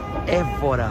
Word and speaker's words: Évora: Como é que se pronuncia? Évora ou Évora? Évora.